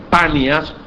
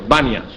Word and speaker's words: Banias: Y de la misma manera, el árabe no dice Panias, sino dice Banias. Y por eso el pueblo hoy se le llama Banias.